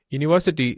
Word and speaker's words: university: Not university starts with a U sound, which is a consonant sound.